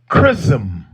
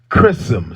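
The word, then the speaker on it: Chisholm: to share with you black history yeah shirley chrism i'm gonna say her name again you got to know her shirley chrism c h i s h o l m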